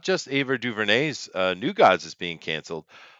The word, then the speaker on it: Ava DuVernay: that's pronounced Ava DuVernay, by the way.